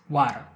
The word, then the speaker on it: water: First of all, we can't confuse the flap T with the English R. When you say this R, you're going to roll your tongue back. You're going to put it back. You're going to sound like you are roaring, like you're a lion. The R sound is so full that the E next to it is completely silent.